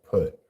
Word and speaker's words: put: but put is pronounced put why isn't it putt put is with two te's of course h p m b f are you foot put rhymes with foot there you go we